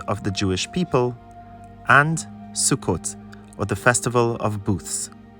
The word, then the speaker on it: Sukkot: the pilgrimage Festival of sukot will begin sukot is the Israeli sadii and Mahi pronunciations for the festival ashkanazi Jews pronounce it as sukos it is alternatively translated